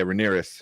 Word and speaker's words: Rhaenyra: How do you pronounce the daughter's name? Like the Rhaenyra, right? Okay, yeah, Rhaenyra.